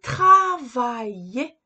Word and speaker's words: travailler: Nous avons ici le verbe travailler. Je travaille. Tu travailles. Il travaille. Elle travaille. On travaille. Nous travaillons. Vous travaillez. Il travaille. Je ne prononce pas le L.